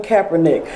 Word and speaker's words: Kaepernick: It's Colin Kaepernick. I had a problem pronouncing that.